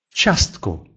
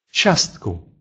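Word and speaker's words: ciastko: А вот если после звука «ч» идет «и» и дальше идет гласный, то «и» не произносится.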